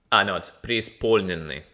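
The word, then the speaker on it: Преисполненный: It's Преисполнинный. The stress is on the O. Преисполнинный. There's no мягкий знак, so Преисполнинный.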